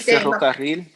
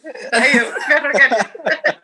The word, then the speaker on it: ferrocarril: Você falou a doble R, né? Isso, ferrocarril. Agora fala, saiu, ferrocarril.